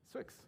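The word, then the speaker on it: swyx: So how do you pronounce it? It's Swix. Swix.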